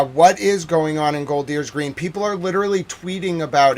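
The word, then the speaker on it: Golders Green: Um the excuse me, let me get the exact pronunciation right. It is Goldier's Green. Gold Deers Green, which is five kilometers, five miles north of London.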